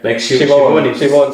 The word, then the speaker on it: Siobhan: Shivon Siobhan.